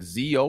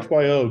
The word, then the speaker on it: XYO: Did you just say the abbreviation, the XYO, or is it like ZO or ZIO? We call it XYO because it stands for XY Oracle, because it's a location